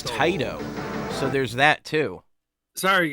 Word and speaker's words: Taito: Available where All right, and now we know how to pronounce Taito.